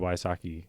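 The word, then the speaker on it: Wysocki: I do know Jacob Wasaki. Yes, I think I said that name wrong. Very funny. You said it correct.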